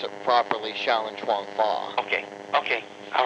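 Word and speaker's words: Chuan Fa: Well, I pronounce it properly, Shaolin Chuang Fa.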